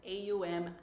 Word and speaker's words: Aum: So the reason when I say Om or Aum, because when I learned, my teacher taught me it's A-U-M, Aum.